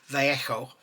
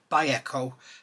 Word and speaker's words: Vallejo: I call it Vallejo. It's actually, the correct pronunciation for it is Vallejo. So, or according to Fox, Vallejo, because the Spanish don't say V, they say B.